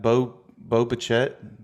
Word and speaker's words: Bo Bichette: You got Bo Bichette. Yeah, Is that how you pronounce it? It's Boba Fett. Yeah, Um, it sounds like Boba Fett, like the guy from Star Wars, but that's not who it is.